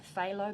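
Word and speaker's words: phthalo: got my sky blue my pho blue silent p just thought of a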